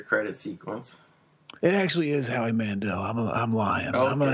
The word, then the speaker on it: Howie Mandel: Did you know his name's actually pronounced Howie Mandel? I didn't know that, but that's even funnier. It is. If you thought it was Mandel, you're a victim of the Howie Mandela effect.